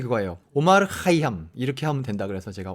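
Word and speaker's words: عمر خیام: 내가 할테니까 만일 들인지 해달라고 제가 제가 도달한 발음이 거예요 5 말 하이 함 이렇게 하면 된다 그래서 제가 엄마를 카이 향미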